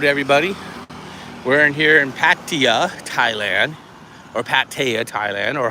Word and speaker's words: Pattaya: We're in here in Pattaya, Thailand. Or Pattaya, Thailand, or however you want to say it. Kitty, how do you say Pattaya?